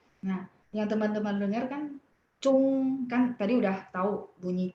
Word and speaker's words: zhong: Jadi teman-teman sering dengarnya cung sehingga tulisnya kan ZHUNG. 没有这样的汉语拼音. Langsung coret dari pikirannya teman-teman, 没有这样. Ya, saya juga udah coret. Jadi kalau dengar cung langsung ZHONG. Memang bacanya agak U, betul nggak?